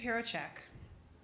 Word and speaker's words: Hrehovcik: Hrehovcik. That's how you pronounce it.